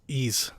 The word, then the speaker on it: Ys: that's pretty much it romaine says it's pronounced ease oh too bad i say wise unrelated to today's direct